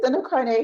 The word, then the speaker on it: Sando Karneh: Did I pronounce that correctly? Yeah, Sando you got it. Karneh. All right, Sando Karneh.